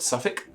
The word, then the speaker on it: Suffolk: to pronounce the word Suffolk um I say that subject I can't say it's like s-u-v-i-c-k Civic but if you see how that word spelled it doesn't look like it's pronounced that way and hermioneer for example